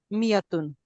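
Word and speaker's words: مائة: मियातुन 100 अल्फुल thousand note that in मियातुन द अलिफ इज not pronounced it is pronounced मियातुन हम it certain in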